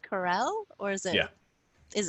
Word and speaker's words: Karel: Is your last name pronounced Corell, or is it? Yeah. Is it? Yes. Corell. Okay. Corell.